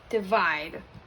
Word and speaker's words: divide: I know, it's tricky. It's not die. It's going to be de. Read, vide. Try for the real word, divide.